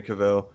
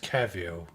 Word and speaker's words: Cavill: And I think they gotta announce Henry Cavill. If they don't, it's still fine. Like whatever, I don't care. But he's Hey, Austin, What? it's pronounced Cavill. I know. I keep saying it wrong, dude.